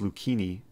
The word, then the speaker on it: Lucchini: see how bishop takes d5 loses oh it's pronounced lucini oh like fiancado people were insulting my pronunciation